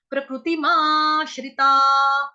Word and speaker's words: प्रकृतिमाश्रिताः: प्रकृति माश्रिता, हा, ता के आगे जो विसर्ग देख रहे हैं 2 डॉट्स ऊपर नीचे, उसका उच्चारण होगा हा से। क्यों? क्योंकि विसर्ग से पहले शब्द यहाँ पे जो वर्ण आया हुआ है वो आ रहा है ता, इसीलिए विसर्ग का उच्चारण हो जाएगा हा।